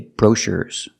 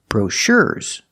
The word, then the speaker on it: brochures: But he gave me all the brochures and I cannot say brochures. We move the stress, and we move the stress to the second syllable, brochures.